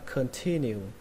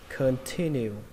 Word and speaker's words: continue: Đó là từ đầu tiên các bạn đọc là continue. Continue. Âm thứ hai lên giọng nhé, âm T.